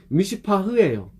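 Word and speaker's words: מִשְׂפָּח: 이 포악이라는 단어는 미슈파흐예요. 정의는 미슈파트고 거의 비슷해요. 미슈파흐, 미슈파트. 그러니까 티귿과 히읗 차이 그냥 거의 비슷해요. 어떻게 발음하면 똑같아. 잘못 발음하면 어떻게 들으면 똑같은데 미슈파트, 미슈파흐 똑같아. 근데 본질적으로 틀려요.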